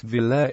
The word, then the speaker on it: Villiers: The Villiers family, pronounced Villers, is one of England's eminent aristocratic families.